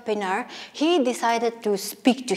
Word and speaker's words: Pienaar: that is Francois Pienaar you might pronounce it in some other ways but I wanted to pronounce it that way that is Francois Pienaar he decided to speak